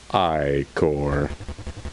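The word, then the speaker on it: Ichor: it with magic like or the pronounced eye core choose your i-core wisely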